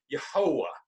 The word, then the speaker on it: Yahuwah: is that same Tetragrammaton yhvh is the way it should be which is really pronounced yojoa by our best guess yeah jehovah yahuwah is how we should pronounce and that comes from dr.